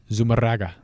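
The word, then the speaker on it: Zumárraga: Bishop Zumarraga, is that how you would pronounce that? Zumarraga.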